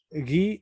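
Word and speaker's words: ज्ञान: Por ejemplo, la palabra guiana se pronuncia una consonante gutural con otra consonante que es dental, que es la N, ¿no?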